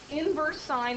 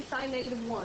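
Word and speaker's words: sin⁻¹: Inverse sine is how you say that. You don't say sine negative 1. You say sine negative 1 a lot. But it's really read as inverse sine.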